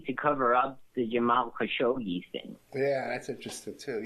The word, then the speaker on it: Khashoggi: The whole, and even how they got the entire press to pronounce it Khashoggi. They weren't even pronouncing it the right way, Khashoggi. Everybody knows how to pronounce Khashoggi. We've been talking about this guy since the 80s, and then suddenly they got a whole new pronunciation of the man's name.